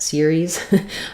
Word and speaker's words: Ceres: So yes, in the word series, which actually, by the way, is the planet name or the dwarf planet Ceres.